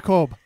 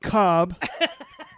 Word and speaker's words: Kolb: we're here with Andrea Kolb yeah not Cobb like that guy who plays football it's cold as in